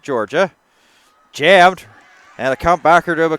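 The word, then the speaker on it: Jorja: Looking at the spelling once again, just to confirm. J-O-R-J-A, you pronounce it Georgia.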